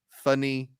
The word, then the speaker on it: Fanny: It's like the last two syllables Okay. of Stephanie, Funny G13.